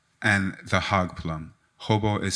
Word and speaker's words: Jobo: And my fruit would be hobo, hog plum in English.